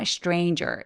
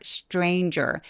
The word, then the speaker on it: stranger: A stranger 해 주세요 여기서 str이기 때문에 strin 보다는 strain라고 입술 중 내밀어서 stranger stranger 하시면 조금 더 수월하게